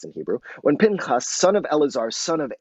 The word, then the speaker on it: Pinchas: of the tent of meeting when piñas it's pronounced pain cos in Hebrew when Pinkus son of Eleazar son of Aaron the priest